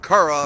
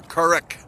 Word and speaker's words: currach: probably 32 different pronunciations even the word Kura or Couric has got different pronunciations depending on where you are in the country but the old island